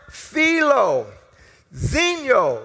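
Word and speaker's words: philoxenia: from for hospitality is a compound word it's pronounced felo Zeno right felo uh which basically is the Greek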